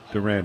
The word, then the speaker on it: Duran: It's Duran. Duran. It's not Duran Durant.